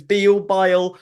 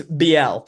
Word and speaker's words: Biel: name gets pronounced in so many Hmm. ways. It's Biel, God knows. It's Biel. That's BL.